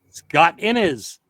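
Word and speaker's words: Scott Innes: Scott Inis.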